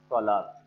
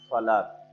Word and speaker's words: সালাত: আজকের আলোচ্য বিষয় হচ্ছে সলাত। সলাত শব্দটি আরবি শব্দ। আরবিতে উচ্চারণ করার সময় উচ্চারণটি আসে সলাত।